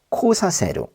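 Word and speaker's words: 来させる: 그리고 오다는 뜻에 크루는 사역형으로 바꾸면 첫 글자의 발음이 바뀌어요. 코로 바뀌죠. 코사세루.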